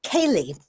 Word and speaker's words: Ceilidh: And, I went to a Ceilidh. I've heard it said different ways, but it's spelled Ceili.